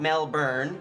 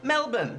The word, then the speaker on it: Melbourne: morning person in general and as I'm in Melbourne not Melbourne because it's pronounced Melbourne I want to make the most out of